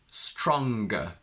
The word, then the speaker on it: stronger: and superlatives or adjectives, we don't keep the ng, but we go ng. Strong, stronger, strongest. Long, longer, longest. We can't say stronger and longer.